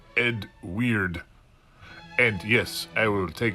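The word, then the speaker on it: Eadweard: My name is Edward Muybridge. That is pronounced Ed Weird.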